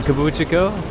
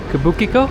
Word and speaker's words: Kabukicho: Folks, we are staying in Kabuchiko. I always say the pronunciation wrong, but I like that pronunciation. Kabukicho.